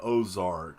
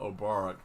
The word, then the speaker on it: Obarak: Thank you very much, I always get your name wrong because I glance at it. I always want to say Ozark because of the dadgum show, but Obarak.